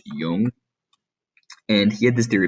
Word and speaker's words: Jung: that another psychodynamic psychologist carl jung um j-u-n-g is pronounced young and he had this